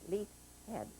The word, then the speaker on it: Leithead: It's a Scottish name. Scottish? It should be pronounced Leithead. Leithead. But when my folks came down from Canada, they never corrected it.